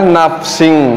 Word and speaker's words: nafsin: Dibacanya nafsing. Kenapa? Karena ihfa. Apa tanda ihfa? Tanwin menghadapi huruf dha.